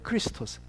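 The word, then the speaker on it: Χριστός: 뭐 한말로 하면 크레스토스 할 때 친절이라는 말은 좀 긴 에 발음이고, 그리고 크리스토스는 같은 비슷한 발음인데 짧은 이 발음이에요. 그냥 크리스토스.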